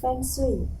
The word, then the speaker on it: feng shui: native speaking, what would be the correct pronunciation, a more correct pronunciation? Do you know? It's still Feng Shui.